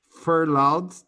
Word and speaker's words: furloughed: for loud for la we don't pronounce the gh for loud or later for loud it's okay but or laid off okay laid off means fire permanently furloughed means they are put